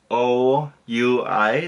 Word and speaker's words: oui: So like O-U-I, that's oui, but pronounced like W-E.